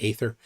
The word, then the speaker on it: aether: there was ether or Aether people have gotten people in the comments have said sometimes that that they think that it should be ether I usually pronounce it with a long a Aether it's spelled with the